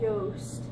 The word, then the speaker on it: Yost: It's Yost. Maybe he should just change his last name so people can pronounce it.